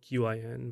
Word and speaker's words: Qin: I think it's spelled Qin, but it's pronounced Qin.